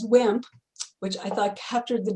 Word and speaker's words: WHMP: white heterosexual male privilege, WHMP, pronounced as WIMP, which I thought captured